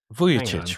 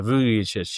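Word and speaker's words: Vujačić: Vuyic, right? Yeah. Yeah. Vuic.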